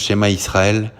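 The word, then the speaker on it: שְׁמַע יִשְׂרָאֵל: la première fois ici il se prononce chez ma Israël a donna elohemo adona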